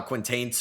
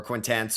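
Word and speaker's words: Quaintance: There's Jaden uh Quintains from or Quintance from uh Kentucky.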